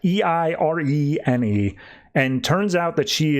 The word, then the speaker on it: Eirene: She shows up and Diana recognizes her as Eirene. I'm going to say it like that. Eirene.